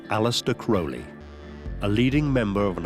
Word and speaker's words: Crowley: Some people pronounce his name Crowley and some Crowley. In his own writings, he said, "It's pronounced crowley. It rhymes with holy."